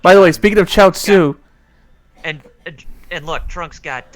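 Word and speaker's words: 餃子: i was like oh that's chow soup because chow tsu is how you say gyoza in chinese look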